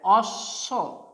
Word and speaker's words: অশ্ব: অ তালবস্যে ব, অ তালবস্যে ব কি হবে, অশ্ব, অ তালবস্যে ব অশ্ব। এখানে দেখো একটা ব্যাপার দেখা যাচ্ছে যে অশ্ব অ তালবস্যে ব যে যুক্ত বর্ণটা হয়েছে, এখানে বয়ের কোনো উচ্চারণ নেই।